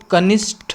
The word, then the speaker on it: कनिष्ठ: कनिष्ठ की बात करते हैं तो कनिष्ठ, देखो कैसे उच्चारण है, कनिष्ठ, ठ यानी बड़ी की मात्रा, बड़ी ठ हो जाएगी यहाँ पर।